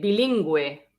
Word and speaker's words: bilingüe: And that means that you have to pronounce the U.